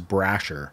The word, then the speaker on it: Brasher: great teacher her name's uh Mrs Brasher which I love because I was like oh it rhymes with Thrasher like this is you